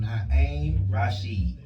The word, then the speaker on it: Naim Rasheed: Pronounce your artist name for him. Naim Rasheed. That's my artist name. Naim Rasheed.